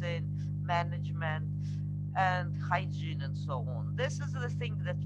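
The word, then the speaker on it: sauna: to take Sona by the way it's not Sona as pronounced and English its sound it's the only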